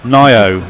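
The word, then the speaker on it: Ngaio: Nio is what apparently how you pronounce that name. Nio Marsh. Ignore the G completely.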